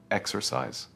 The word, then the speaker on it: exercise: Stress the first syllable, exercise.